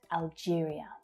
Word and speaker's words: Algeria: Algeria. Algeria. It's the same stress pattern as Albania. Algeria. Algeria. It's the J consonant sound. Algeria.